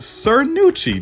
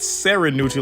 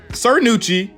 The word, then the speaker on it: Cernucci: and one thing i'm realizing is that it's pronounced sir nucci not sarah neutral like i've been saying and no one's corrected me but sir nucci we got the website here let's go ahead